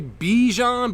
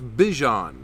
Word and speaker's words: Bijan: I know a lot of people say Bijan, but it's Bijan.